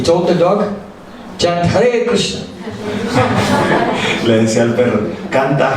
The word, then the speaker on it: Krishna: Actually, you know, the word Krishna is quite difficult to say because you have K made by the back of the throat, and then Ra, with the tongue up, Ra, and then Na.